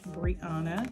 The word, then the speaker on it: Brianna: Nothing to see here, just my name, Brianna. Yes, accent on the A.